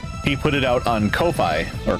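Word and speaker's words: Ko-fi: pronounced Kofi or coffee it's k- fi and I think it's supposed to be like coffee cuz you're buying a person a coffee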